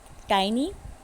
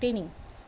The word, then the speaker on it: tiny: can say to bring tiny it's not tinny correct the pronunciation tiny means very small